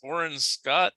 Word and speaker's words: Orrin Scott: It's Orrin Scott. Is that how you pronounce it?